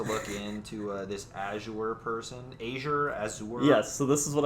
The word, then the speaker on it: Azure: The way I'm pronouncing it, it's like AJ yeah, EHR or something.